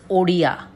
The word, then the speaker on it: Odia: So it's pronounced as Odia. Odia is the language.